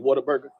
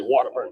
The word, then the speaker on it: Whataburger: When you're from Texas, you don't actually say Whataburger. You say Waterburger.